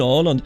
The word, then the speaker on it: Åland: It may be Åland speaking. I don't even know if that is how it's pronounced by the way. Åland. Oh, I'm Swedish and I produce the games and I live in Åland. Yeah, that sounds about right.